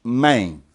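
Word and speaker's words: μήν: The suffix is the word main, spelled M-E-N, but pronounced main.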